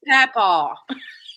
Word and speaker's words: papaw: I heard pow pow, and I'm going, is that your It's papaw.